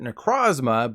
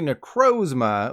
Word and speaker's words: Necrozma: Personally, I called it Necrozma, but it's actually Necrozma, like a murder of Murkrow.